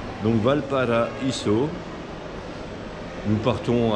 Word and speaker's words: Valparaíso: Ah, j'ai bien prononcé, hein, parce qu'en espagnol, on prononce toutes les lettres. Il n'y a qu'en français que AI, ça fait E. Donc Valparaíso, nous partons à 17h